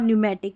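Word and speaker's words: pneumatic: फिर देखिए पी एन जब भी नज़र आए तो न पढ़ना है, क्योंकि पी साइलेंट होता है। निमोनिया और न्यूमेटिक, ये हमने जब पी कब साइलेंट रहता है उसमें हमने देख लिया।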